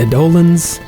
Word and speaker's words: Eidolon: Along the way, you fight the Eidolons. I looked up the pronunciation for that.